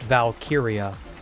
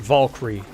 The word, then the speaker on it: Valkyrie: I mean, surely he's heard the word Valkyia enough to know that it's pronounced Valkyia, not Vulyrie or whatever.